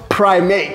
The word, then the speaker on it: Prim8: It's spelled Prim8, but pronounced Prim8. Prim8. Like, you know, primates.